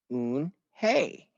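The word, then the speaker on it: Unhei: it's spelled u n h e i it's pronounced un hey oh it's you hey the boy said like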